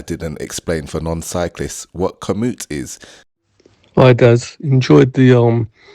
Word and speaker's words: Komoot: explain for non-cyclists what Komoot is. Hi Dad, enjoyed the cycling video as usual, but you say Komoot instead of commute. It's not Komoot, it's commute. My dad thought I was mispronouncing commute. Anyway, for those of you